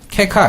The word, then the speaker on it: caco-: CACO. 케카, 이렇게 발음합니다.